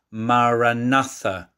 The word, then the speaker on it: maranatha: within john mayne recommends the aramaic phrase maranatha split like that into four syllables it means come lord